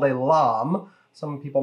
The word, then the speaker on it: lame: on YouTube use a French device called a LOM some people mispronounce it lame but that's just lame and that's completely unnecessary